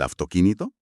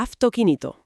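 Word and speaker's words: αυτοκίνητο: Claro, se escribe autoquinito, pero como la tau es sorda, pues supongo que el sonido choca contra un muro y se endurece, ¿no? Exacto. Se endurece. Se convierte en la F sorda dando lugar a afok quinito. Lo has clavado. La boca anticipa el silencio relativo de la laringe para la consonante sorda y produce una F en lugar de una V.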